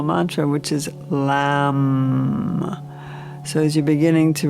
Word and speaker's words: Lam: The low-toned Om is the exercise for the chakra attunement, and the one-syllable Sanskrit mantra is Lam, with the L, Lam.